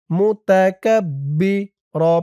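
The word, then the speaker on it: مُتَكَبِّر: জবর কাফ বাজের বি মুতাকাব্বি র পেশ রু এত চিহন হতে অফ করার কারণে র উপরে পেশটা সাকিন হয়ে যাবে উচ্চারণ হবে মুতাকাব্বির মুতাকাব্বির আজিজুল জাব্বারুল মুতাকাব্বির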